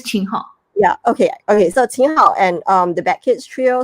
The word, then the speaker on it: Qin Hao: How do you pronounce his name? Qin Hao.